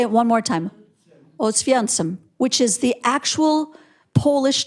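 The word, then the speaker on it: Oświęcim: Oswiecim, which is the actual Polish name for the town that the Germans called Auschwitz.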